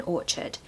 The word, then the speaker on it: orchard: it's like or should you need a schwa in the second part Orchard number five is